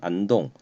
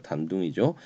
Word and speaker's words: 단둥: 이 교통국은 단둥이라고 하는 곳, 단둥은 그 신의주 맞은편, 여기가 이렇게 우리나라가 있으면 여기가 신의주면 그 맞은편 안동, 중국 발음으로 단둥이죠.